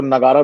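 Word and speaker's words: nagara: इसमें मेजर एक sub division है, वो है नॉर्थ इंडियन स्टाइल, जिसको नगारा भी बोलते हैं। ये नागरा, जैसे भी आप प्रोनाउंस करना चाहो वैसे एट इज नागरा।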